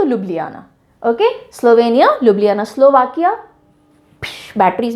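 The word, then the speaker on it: Ljubljana: बहुत interesting spelling है, pronounce कैसे करते हैं इसको, लजुब लजाना नहीं बोलते हैं, ओके, लुब्लियाना, जे साइलेंट, लुब्लियाना, लुब्लियाना।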